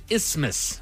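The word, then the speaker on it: isthmus: The correct way to say it is ismas.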